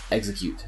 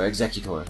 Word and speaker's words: Exeggutor: I don't like the super long neck on now I can't even pronounce it, on Execute. There we go. Or Exeggutor, rather.